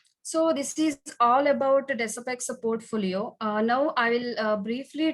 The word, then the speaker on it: Desapex: our company name is Desapex. Word Desapex means the combination of two words, that is design and apex.